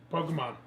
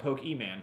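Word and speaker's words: Pokémon: pokemons sword and shield we just played it Pokemon that was pretty cool I mean whoa c'mon ya know people that pronounce it with the oh it drives its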